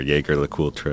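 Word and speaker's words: Jaeger-LeCoultre: So, and during that time, I also reached out to a few brands, Jaeger LeCoultre, or Jaeger LeCoultre, as we say in the U.S., and others.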